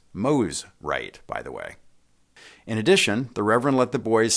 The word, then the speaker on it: Mosrite: support of the Endeavor correctly pronounced Moe's right by the way in